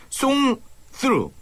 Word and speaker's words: 송스루: 미스터 온조의 가장 큰 특징이라고 하면은 대사를 최대한 줄이고 대부분 노래로 진행되는 송스루, 이 번데기 발음 주의해 주시고요.